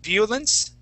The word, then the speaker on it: violence: the second sentence uh you had said violence okay using a a Spanish I the word is violence violence VI violence yeah violence